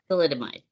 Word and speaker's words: thalidomide: So there the research that I was looking into is saying it was because of the thalidomide. Did I pronounce it right?